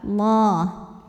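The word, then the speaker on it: الله: Lam jalalah atau lam pada lafaz Allah dibunyikan secara tafkhim karena huruf sebelumnya baris dhammah, maka baca lamnya tebal. Allah.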